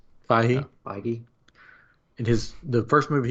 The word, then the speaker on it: Feige: Anyways, so, but I thought it was cool that they're doing the Statue of Liberty because, and Kevin, I always pronounce his Bacon. name, Feige.